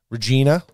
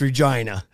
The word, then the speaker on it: Regina: So I was down in like Regina, and that's not how you say it. That's Regina.